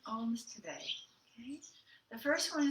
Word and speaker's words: Om: So Om it's spelled O-M, but the sound is A-U-M. So it starts way down and kind of rises up through the energy centers.